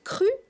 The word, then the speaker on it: Qru: Alors, vous avez retroussé vos manches, Estelle est vieux, et vous avez créé, comment ça se prononce? Cru, avec un Q.